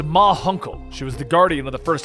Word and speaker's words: Ma Hunkle: her that it was Munkle. The Guardian suddenly appears, and around the corner, the aging members of the Justice Society of America step into view. It's pronounced Ma Hunkle.